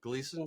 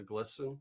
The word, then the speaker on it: Gleason: Gleason Street as opposed to Glisten and Twiliger is a very hard one to pronounce.